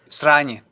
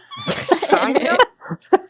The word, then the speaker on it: sranje: Sranje. Sonya?